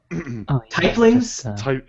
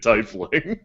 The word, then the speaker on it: Tling: Uh, tlings. Tling. No, that's another running joke. That's another running joke at TI. The pronunciation of Tling and everyone else, every non Tling pronouncing it Tyling.